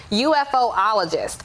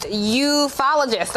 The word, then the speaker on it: ufologist: that there is something, I'm going to mispronounce it first and I'll say it the correct way, UFOologist. But it's actually pronounced ufologist, I believe.